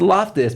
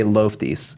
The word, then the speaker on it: Loftus: It's Loftus, but I still like to say Loftis, like Loftis, like Spanish.